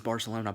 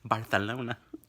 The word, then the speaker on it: Barcelona: George pronounces Barcelona. Barcelona.